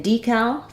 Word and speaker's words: decal: there um in in decal first syllable stress and then second syllable does have the clear a vowel um she has a decal on her window uh